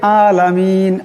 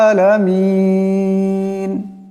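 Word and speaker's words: العالمين: করি সেটা হলো আলামিন এখানে আইন আছে কিন্তু আমরা সেটাকে আলামিন আলামিন হামজার মত উচ্চারণ করিয়া পড়ি সেটাও কিন্তু ভুল তাই আমরা সময় শুদ্ধ পড়তে হলে শুদ্ধ রূপে হবে আলহামদুলিল্লাহি রাব্বিল আলামিন এমন করে উচ্চারণ করতে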